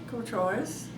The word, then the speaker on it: Courtois: Courtois. And is that French? Yes, and it's not, I'm not pronouncing it properly, but that's how it's always been since I've been in the family.